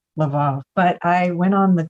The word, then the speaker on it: Lvov: I think in Ukraine, which is where it is now, it's Lvov, which sounds like love you.